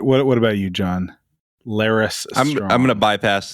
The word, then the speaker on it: Larys: Now his name rhymes with Varys. Coincidence? It's a good way to remember. It also rhymes with Ferris. So we may have a John Larys Hughes Bueller's Day themed Off episode.